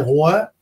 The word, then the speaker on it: Roy: mon nom, parce que mon nom de famille, c'est Roy, puis R-O-Y, évidemment, mais R-O-I, ça se prononce de la même façon.